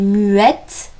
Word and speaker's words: muette: Ça peut être le cas avec le T aussi, muet qui va donner muette. Je ne mets pas d'accent, c'est juste un E, mais qui va se prononcer E, car il est suivi de deux T.